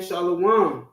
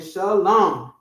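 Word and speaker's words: שלום: didn't exist then Shalom it weren't saying shalawam it was saying Shalom simple all right go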